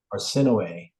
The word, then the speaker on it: Arsinoe: Arsinoe. Arsinoe, like no way.